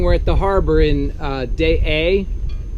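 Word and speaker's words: Deshaies: So this morning we're at the harbor in Day A. It's spelled Deschales, and that's how we say it, but it's actually in French Day A.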